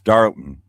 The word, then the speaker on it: Darlington: It's Darlton. That's how you say it in the South.